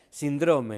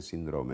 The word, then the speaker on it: síndrome: No, ahí no hay polémica que valga, es síndrome, es drújula, no es síndrome o síndrome, no, es drújula.